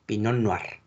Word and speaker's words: pinot noir: se escribe en merlo recuerden que las tres no se pronuncian igual por ejemplo estás pinot noir y pinot meunier no se pronuncia latino es pinot noir y pinot noir ok entonces tenemos cabernet